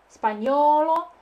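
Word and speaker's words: spagnolo: Итальяно, испаньоло. Напоминаю о том, что буковка G плюс N читается как не, мягкая.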